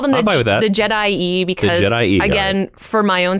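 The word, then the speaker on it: Je'daii: Oh weird okay and in traditional Latin pronunciation which carries over into English pronunciation that would be pronounced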